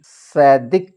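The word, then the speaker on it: צדק: अगर देखा जाए तो जिसे हम हिब्रू में सदिक कहते हैं टी साइलेंट है इसमें टी एस ई डी ई के सदिक इसका मतलब होता है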